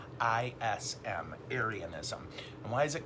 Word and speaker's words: Arianism: called arianism okay arianism now if you're like me the first time you heard arya and you thought of nazis right this is unconnected to nazis it's spelled different a r i a n arianism and why is